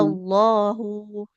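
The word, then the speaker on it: اللَّهُ: H yang di lafaz Allah. Enggak. Enggak ya. Lafaz Allah Hmm, itu hanya nggak boleh dipanjangkan. Yang panjang lamnya saja. Iya, iya, iya. Walaqad sadaqakumullahu wa'dahu. Jadi tidak Iya. Allahu.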